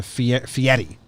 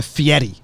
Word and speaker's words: Fieri: He changed his name to Fieri.